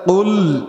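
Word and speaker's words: قل: কুল আউযু বিরাব্বিন নাস, এখানে কফ ব্যবহার করা হয়েছে, অর্থাৎ কুল উচ্চারণ করতে হবে।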